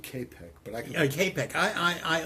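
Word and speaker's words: Čapek: Is it Copic or Chopic? What are we talking about? The writer, the author of R.U.R. Oh, I pronounce it K-Pec, but I can...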